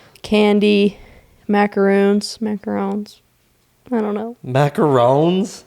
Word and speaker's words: macaron: The only reason I thought it was macaron was because we watch a lot of cooking shows, and that's usually how I pronounce it. Oh. But I like to say macaroon. Anyways, we booked the buffet,